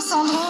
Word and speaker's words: Sandrot: Il faut préciser que Sandro, ça s'écrit S-A-N-D-R-O-T. O-T.